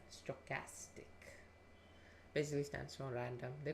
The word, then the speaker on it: stochastic: how do you pronounce that how do you pronounce that stochastic stochastic stochastic all right stochastic basically stands for random they could have used